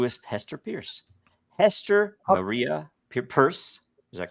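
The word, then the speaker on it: Peirce: have hard names pronounce actually Hester Pierce has a weirdly it's easy to pronounce but a weirdly purse is actually how it's pronounced really oh really yeah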